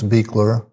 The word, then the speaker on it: Beichler: tell me your name at once more and spell it for me also? Okay. Uh, Beekler Bizen Boy Ei L E R.